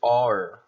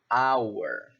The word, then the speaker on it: hour: Isso aqui não se pronuncia em inglês hour, e sim hour.